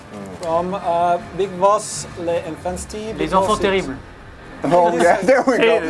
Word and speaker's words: Les enfants terribles: Les enfants terribles. Oh yeah, there we go. We have That's the actual first time I've ever heard that the perfect. first time I've heard the French pronunciation of that.